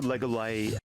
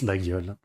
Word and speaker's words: Laguiole: There's the Legolay. The Legolay. It's a Laguiole. It's pronounced Laguiole.